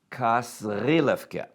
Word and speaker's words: Kasrilevke: Please note the correct pronunciation. Kasrilevke.